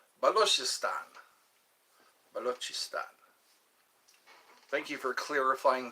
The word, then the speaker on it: Balochistan: B-A Balochistan is how you say. Balochistan.